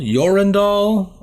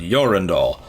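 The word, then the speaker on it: Jorundall: it as a J if it's proper you know Viking it's gonna be a Y sound your and all but then you'll meet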